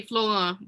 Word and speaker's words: Florent: If Sandra you want to be Florent. French, you can say Florent, but I don't use the French pronunciation of my last name, unfortunately.